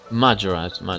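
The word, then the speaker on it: Mahjarrat: Mahrat, is it? Or Mayhurt? Well, Majorat, right.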